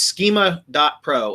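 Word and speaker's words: Skema.pro: But it's schema dot Pro. And it's spelled instead of the way that schema is really spelled he spells it's SK II ma dot Pro.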